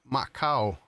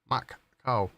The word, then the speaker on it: Macau: Um, oh, it's pronounced Macau. Macau.